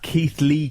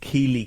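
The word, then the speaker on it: Keighley: It's pronounced Keith Lee Cougars, not Keeley Cougars.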